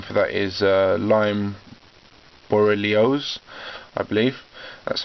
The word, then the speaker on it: borreliosis: disease the medical name for that is lyme borreliosis that's how you pronounce it and this can manifest itself in